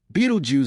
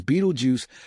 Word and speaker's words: Betelgeuse: Even today, Beetlejuice is peculiar name often mispronounced as Beetlejuice thanks to a certain ghostly comedy sparks curiosity and wonder among those who gaze upward.